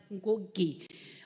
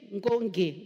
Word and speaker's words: Ngoge: I have problems pronouncing the word Ngoge. Honorable Speaker, because in Kikamba there is no G without N. So when I say Lin Ngoge, Ngoge, it's because I'm trying to pronounce this word Lin, Ngoge.